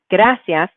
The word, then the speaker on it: gracias: to our rule, because you can hear that the strong part is the first A in gracias.